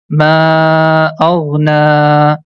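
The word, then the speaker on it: ما أغنى: And one more thing, whenever you see the small alif is written top of letter ya, that time letter ya becomes silent. So we are not going to pronounce that. So the first word becomes ma aghna.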